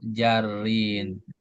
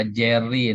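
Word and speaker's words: جرٍّ: Maka di sini harfu jarrin jangan dibaca jarin. Enggak ada je, enggak ada harakat e dalam bahasa Arab.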